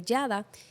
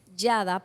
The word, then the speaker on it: Yadah: En español se pronuncia Yadá, pero en hebreo se pronuncia Yadá. Así que de las 2 formas vale que se pronuncie.